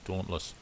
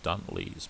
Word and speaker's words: Dauntless: is the sb spd dauntless when i was a kid i used to mispronounce this and call it a dunlees but it's a dauntless spd dawnless and this